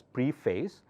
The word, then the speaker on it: preface: Preface of a book. It's written as preface or it's pronounced as preface. A, F-A-C, there changes to A sound.